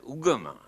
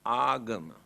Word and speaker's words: agama: very meaningful word here now they pronounce as ugamah but the original word is agama ah means purposely gamma